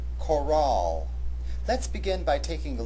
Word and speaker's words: chorale: Therefore, the proper pronunciation of this word has the accent on the second syllable, chorale.